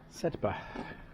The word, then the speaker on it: Sedbergh: just asked for the what is the proper pronunciation of the town and it is said said we also asked how